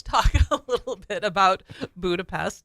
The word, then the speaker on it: Budapest: they pronounce the S as an SH. That's just crazy. So you will hear Hungarians say Budapest.